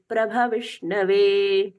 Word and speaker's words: प्रभविष्णवे: विमुच्यते नमस्तस्मै नहीं, विमुच्यते नमस्तस्मै विष्णवे प्रभविष्णवे। विष्णवे प्रभ विष्णवे, प्रभ विष्णवे। फिर से यहाँ पर बताना पड़ रहा है, भ का पूर्ण उच्चारण भगवान जी का भ।